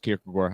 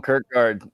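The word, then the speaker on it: Kierkegaard: and kard uh or it's pronounced kagar I'm not even sure I just read words and I say them call him Kirk guard you know just call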